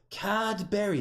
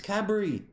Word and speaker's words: Cadbury: did the same thing cadberry it's Cadbury it's not hard it's not you're a